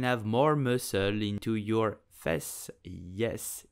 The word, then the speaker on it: fesse: So, how do you pronounce it correctly in French? You will say fesse.